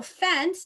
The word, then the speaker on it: fence: know okay so um so fence to sound out fence right the c e the e is silent but any c that is followed by an e makes a s sound so when you're early